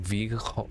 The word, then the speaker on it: vliegen: The Dutch hard G is like you're hacking something in your throat. Like vliegen. Vliegen. Like that.